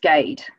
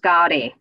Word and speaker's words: Gade: was working at Audi, my surname is pronounced Gade. Here in England, and my dad had to adopt that. Back in India, it's pronounced Gadi, and people over here couldn't really pronounce it when he came across in the 60s, so he just settled on Gade.